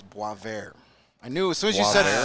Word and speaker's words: Boisvert: Well, Sasha Boisvert. Boisvert. All right, I like that better. We're from Chicago. We pronounce every letter that's in every word, and we pronounce some that aren't there either.